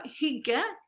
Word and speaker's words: hygge: uh standard languages uh higa is spelled h y g g e so he has a little bit of a sharp vowel sound and then the